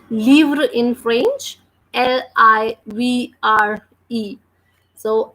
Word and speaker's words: livre: And last E we never pronounce. So that's the reason we are pronouncing this word as livre, because the sound of letter L is L and it is combining with I.